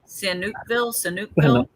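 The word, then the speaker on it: Sihanoukville: Sanookville.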